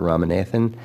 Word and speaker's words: Ramanathan: Ram because his name is difficult to pronounce, but it's Dr. Ramanathan, and he is a